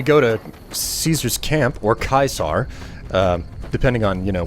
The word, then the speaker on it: Caesar: get better prices um in Latin a c sounds like a k it has a hard sound and in English a c sounds like a c so Caesar is said kaisar in Latin which is the reason